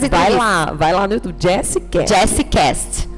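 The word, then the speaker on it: Djessicast: Jessicast. E como pronuncia tudo pra eles? É Jessie, né? D-J-E-S-S-I Cast. C-A-S-T.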